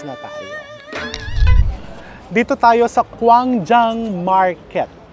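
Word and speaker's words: Gwangjang: tayo dito tayo sa kwang Jang market so letter k daw kasi you pronounce it as letter k but it is spelled as letter G guang Jang dito so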